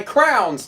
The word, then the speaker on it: crayon: You are adding an extra syllable by saying crayon.